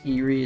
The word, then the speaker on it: Eyrie: a good old 0.0 mind you okay this Erie is how you pronounce that although my kid self always said